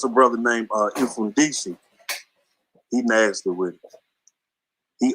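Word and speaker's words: Mfundishi: Yeah, it's spelled funny. It's like MF. It's like M then fun. MFUN and then DISHI. Infundisi.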